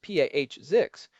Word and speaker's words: POSIX: Pix spelled POSIX and usually pronounced P Azix is essentially a set of standards that define how an operating system should behave.